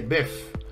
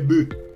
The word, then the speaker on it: bœufs: des bœuf des bœufs on ne dit pas des bœufs on dit des bœufs si vous avez aimé